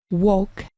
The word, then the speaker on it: walk: Continuamos con esta forma verbal walk del verbo to walk, que significa caminar. Puedes notar en la pronunciación que la L se omite.